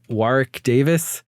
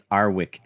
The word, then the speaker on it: Warwick Davis: There is a featurette on this movie that talks about Warwick Davis. Wait, sorry. The W is silent. It's Arwick Davis.